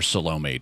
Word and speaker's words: Salome: so so that's who salome is um or salome to pronounce it the more american way um but she confesses